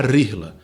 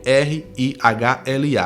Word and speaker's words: rihla: Transcrevendo para o português, as letras que fazem parte desse nome, R-I-H-L-A. A gente pronuncia o R como o R espanhol, vibrado, e esse H do meio a gente pronuncia de forma aspirada, como o R duplo do português.